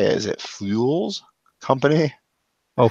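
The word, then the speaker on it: Phule: adventures and how do you say is it fuels company Oh fools I think it's holes okay so it's @f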